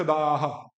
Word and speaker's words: दाह: दुख, फिर सुख दुख दाह, सुख दुख दाह, सुख दुख दाह, अब पूरा बोलो, अभी भी मजा नहीं आया, वो खागा फिर आ खा गई, नहीं दा को बड़ा करो, दाह, बस दाह, हाँ, हाँ सुख